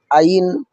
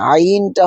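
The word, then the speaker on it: عين: আর যদি আইনকে বলেন আইন তাহলে কিন্তু ভুল হয়ে যাবে। আলিফ হবে টাস করে আওয়াজ। হলকে শুরু হইতে আলিফের উচ্চারণটা হবে। আর আইনটা হবে হলকের মধ্যখান থেকে।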